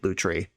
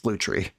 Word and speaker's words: Lutri: conversation with myself about how I'm going to pronounce this card, Lutri or Lutri. And I landed on Lutri, but somebody pointed out in the comments that the French word for otter is a loutre, which very clearly is where this name was inspired by.